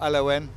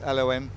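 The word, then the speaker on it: Elowen: I've got to get the pronunciation of Elowin right. Not Elowin, it's Elowin.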